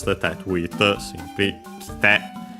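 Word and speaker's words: 来て: te to it, simply kite. the accent moves on the te, despite the being kuru accent on the first mora, because the e of ki is barely heard if at all.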